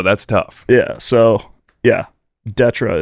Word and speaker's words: DÊTRE: Yeah, so, yeah, Detra is how it's pronounced, but I get Dieter. Deter. I get Dieter a lot.